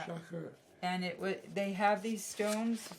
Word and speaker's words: Schacher: Shaker. Schacher. Schachter. No T. Schacher. Yeah. Schacher.